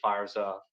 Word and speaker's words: Favre: Here we have the 91 Stadium Club Brett Favre rookie card. This card is notable because, of course, they spelled his name wrong. Spelled F-A-R-V-E like it sounds.